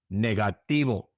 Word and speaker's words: negativo: Negativo. Remember in Spanish the V is usually pronounced like a B.